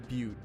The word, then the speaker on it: butte: Butte.